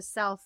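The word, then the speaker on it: CELLpH: wellness program, which is the Self Love, CELL, small p, capital H, pronounced self.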